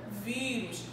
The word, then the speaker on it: vírus: Mas qual é a minha sílaba tônica? Aquela que apresenta o som aberto. É a minha primeira sílaba ou a última? Vírus.